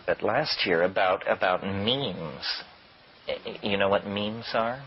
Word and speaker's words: meme: last year about about means you know what means are means are the smallest units of a concept and they're like genes the word is deliberately constructed to rhyme with gene and so when I